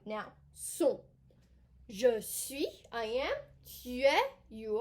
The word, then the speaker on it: suis: Suis. Je suis. Okay, that's a you. Okay. I am. Je suis. Suis. We do not pronounce the S at the end.